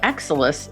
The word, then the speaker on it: XSOLIS: And Exelis is spelled XSOLIS.